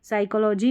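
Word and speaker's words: psychology: शुरू कर देंगे तो याद रखना कि इसमें भी साइकोलॉजी में पी साइलेंट रहता है।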